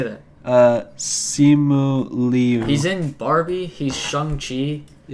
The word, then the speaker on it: Simu Liu: Simon Liu. What's how do you say his name? But by the way, spoiler Who is alert. this guy? Spoiler alert. How do you say that? Simu Liu.